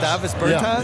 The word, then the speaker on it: Davis Bertans: Oh, well, now, at this point in my life, it's Davis Bertans. Is that how you say his name? Davis Bertans. Davis Bertans?